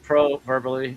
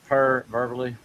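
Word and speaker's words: proverbially: Then second, yeah, it's pronounced proverbally, not perverbally.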